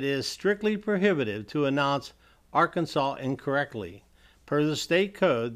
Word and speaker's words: Arkansas: strictly prohibitive to announce Arkansas incorrectly per the state code the only acceptable pronunciation in three syllables with a silent s and a in each syllable with the Italian sound and the accent on